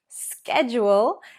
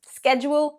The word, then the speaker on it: schedule: Schedule is the British pronunciation, but schedule is the American pronunciation.